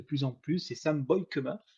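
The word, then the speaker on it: Beukema: en plus c'est Sam boykema j'ai appris sa prononciation sur le Podcast cchpp c'est bien boy KEMA défenseur de de Bologne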